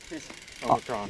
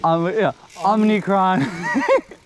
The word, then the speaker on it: Omicron: Omicron. Omnicron.